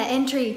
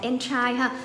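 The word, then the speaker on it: entry: là NC từ này các bạn thấy cách phát âm là entries chứ không phải là em tay thì có nghĩa là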